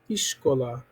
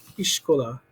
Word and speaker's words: iskola: Iskola. Okay, in Hungarian, the letter S sounds like sh. Okay, but it's still got that SK and the A and the L. Iskola.